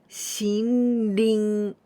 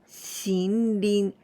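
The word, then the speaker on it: 森林: But here we pronounce with ONYOMI. ONYOMI of this Mori is Shin. And we say Shinrin. Shinrin.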